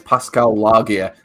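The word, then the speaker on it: Pascal Laugier: man he is um I always struggle the pronounce his um it's Pascal lagia who made matters um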